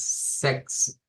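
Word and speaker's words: sechs: s y en este caso esta ch que está acá se convierte en una k y luego la s se retoma para aquí entonces sex Z sex es Con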